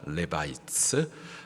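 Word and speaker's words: Levites: 레위인을 영어 발음으로 하면은 레바이츠입니다. 레바이츠.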